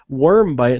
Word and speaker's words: Wyrmbyte: Bits, Dream Quest Games, Wormbite, and that's spelled WYRMBYTE, Radio Games, Ludoland, Beta,